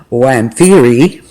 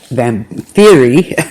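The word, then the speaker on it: Wamphyri: is this a world of vampires which is pronounced when theory and I'll spell that out because a woman that is what they are called then then theory let's say that 10 times right and that's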